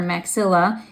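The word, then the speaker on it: maxillae: the middle so you might see it spelled with an AE at the end that's maxill and that's because that's plural because they're actually two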